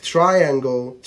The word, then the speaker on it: triangle: واخيرا حرف الاي لو جه بعديه حرف الاي ساعتها هتنطقه يا يا يا زي كلمة triangle triangle triangle triangle، وزي كلمة diagram diagram diagram بالشكل ده.